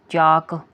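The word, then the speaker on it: chalk: रही है ठीक है चाक सी एच ए एल के चाक इसमें एल साइलेंट है चाक इसमें सीच साउंड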